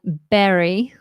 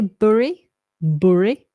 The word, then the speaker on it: Bury: you pronounce the town Berry in Manchester Berry I think in the north someone say buy bury I say berry berry like a berry like a blueberry Berry um congratulations con